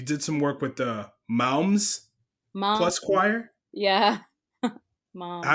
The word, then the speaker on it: Moms: some work with the Moms Mom. Plus Choir. Yeah. Mom. Did I say it right or Yeah, we kind of just say okay? moms, just like a mom.